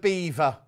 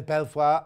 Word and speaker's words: Belvoir: posh then the veil of belvoir is actually pronounced the veil of beaver not quite so posh where'd you live there belfoir oh you mean the veil of eva oh